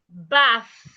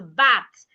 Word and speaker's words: bath: When you get to the T and H, your tongue should be in between your teeth like this.